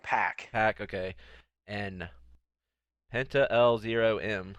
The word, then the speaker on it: Pac: hold on, we forgot to mention that Pac and or Pac did they what did they say how you officially pronounce it? They've been saying Pack.